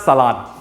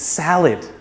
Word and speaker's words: salad: please salad is healthy it's not salad it's salad there are many salads